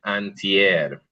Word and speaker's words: antier: Antier. Antier. Uh-huh. There was one that I didn't like as much because remember the A is like a ah, so it's antier.